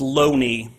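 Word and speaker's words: Looney: same here in 1920 J Thomas Loney his name is pronounced Lough Neagh I'm disappointed to published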